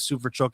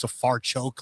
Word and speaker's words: Safarchuk: Ben says Sufarchuk. It's Safarchuk. Like we all get it wrong.